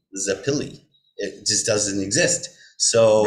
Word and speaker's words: Zappile: And they look at his ID, it's yes, I'm Joseph Zappile. This is Mhm. Ryan Zappile. And I love that. It's like, it's a Yeah. perfect, it's got two syllables, it's broken nicely.